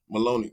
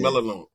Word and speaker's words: Melinoe: Maloney Yeah. Melinoe.